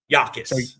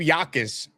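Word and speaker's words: Jacas: Illinois pass rusher Gabe, is it Yakis or Jacus? How do we actually pronounce his name? Yakis. Exactly. The Jay is the Jay is silent. So, Gabe Yakis, Dom, what do we need to know about him?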